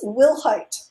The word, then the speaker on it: Wilhite: so i want you to help me pronounce your surname yes my last name is will height i knew it we'll have problems with it